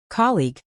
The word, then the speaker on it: colleague: Stress on the first syllable and a clear G sound at the end.